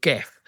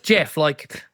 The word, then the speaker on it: Gef: It's spelled G-E-F. And for years, most people thought it was Geff. But kind of assume it's Geff. No, it's Jeff.